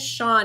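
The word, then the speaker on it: Chun: my classes right now who spells it c h u n nuh-uh yeah yeah I I had to ask him how to pronounce it when I first saw it cuz I was like I don't know but it's Sean c c h u n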